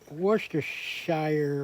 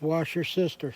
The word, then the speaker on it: Worcestershire: Now I'm going to add some washer sister sauce if I can find it. Here it is. And just so everybody knows, this is not Worcestershire or whatever. It's washer sister sauce.